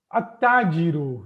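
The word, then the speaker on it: التاجر: At-tajiru. Now here I am not pronouncing lam.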